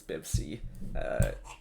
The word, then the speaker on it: Byvci: Byvci, as he pronounces it. I've been pronouncing that wrong for a while, so I've been corrected as Byvci, but it's a random name or something.